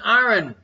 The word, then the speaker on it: iron: Gordy, not 2 syllables in Iron.